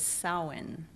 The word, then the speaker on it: Samhain: the pronunciation pronunciation the Gaelic or old Irish pronunciation is saawan or sound it designated for those peoples the